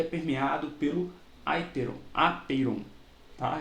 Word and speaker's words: apeiron: Pronuncia aperon, tá?